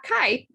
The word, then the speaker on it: Kai: did i pronounce your name have i been pronouncing your name correctly kai yeah yeah kai awesome awesome i love it so thank you kai appreciate you being here